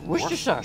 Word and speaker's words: Worcestershire: Worcestershire sauce. Yes. Try to say that three times. Worcestershire. How do you say it? Worcestershire? You just leave out the first two R's.